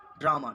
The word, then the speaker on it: ड्रामा: Drugs र पूरा पढ़ेंगे, लेकिन ड क्या ड्रामा, ड्रामा, ड्रामा, ड पूरा नहीं पढ़े, आधा पढ़े, ड्रामा, रा पूरा पढ़े, ड्रामा।